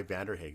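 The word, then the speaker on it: Vanderhaeghe: that's why i recommended that was that guy vanderhag that's how you pronounce it saskatchewan based writer and he wrote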